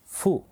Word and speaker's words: ふ: ஹா இரண்டாவது எழுத்து ஹி மூன்றாவது எழுத்து ஃபு சோ நீங்கள் கவனிச்சிருக்கலாம் இந்த இடத்துல வந்து ஹூ கிடையாது ஃபு அப்படின்னு தான் வரும் சோ ஹா ஹி ஃபு